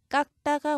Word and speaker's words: 깎다: 자, 괄호 안에 있는 이 자음들은 각각 대표음으로 소리가 납니다. 종성에서 대표음으로 소리가 나요. 그래서 괄호 안에 들어있어요. 자, 쌍기역의 대표음은 기역이죠. 그래서 깍이 되고 자, 거기에 경음화, 된소리를 적용을 해서 깎다가 올바른 발음입니다.